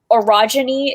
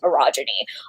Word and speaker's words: orogeny: One thing, orogeny is the pronunciation of like the power that people use, and then orogene is the pronunciation of the people with the power to use orogeny.